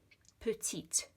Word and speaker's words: petite: When you do have an E on the end, it means you pronounce that.